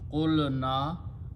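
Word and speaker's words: قُلْنَا: And when you put a na, the grammar waw is not pronounced. The grammar becomes qulna, we said, and we is Allah subhanahu wa ta'ala.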